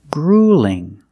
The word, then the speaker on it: grueling: If you have an L or a double L between vowels, that's a light L. So it's a little different. Grueling.